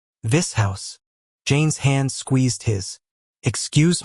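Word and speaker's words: Vishous: This house.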